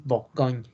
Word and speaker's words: Bourgogne: Alsacia, la Borgoña, pronunciación es Bourgogne, Savoie y Jura, ¿no?